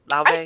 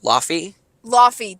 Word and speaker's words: Laufey: La before is that how you say it La yeah la you used to pronounce it like ly ly that's what it was that's what you pronounced